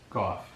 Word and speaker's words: Gough: Gough. Gough? Vance Gough? Yes. Okay, and that's spelled G-O-F-F?